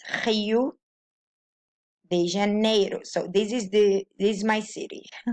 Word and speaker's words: Janeiro: It's like Spanish. It's like ra, ro, re, ri, ro. So Janeiro.